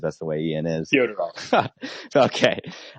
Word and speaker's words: Fyodorov: Fyodorov. Okay. I call him Fedorov because that's how it's spelled. I promise it's Fyodorov.